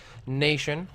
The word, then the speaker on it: nAtion: my apologies rogue nation emphasis on the a I do believe is still pronounced nation so that's going to